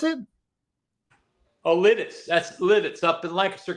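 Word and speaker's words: Lititz: Uh, the 20 the 62nd annual antique show in Latitz. How do you pronounce it? Oh, Littis. That's Litz up in Lancaster County. Oh, it's Litz.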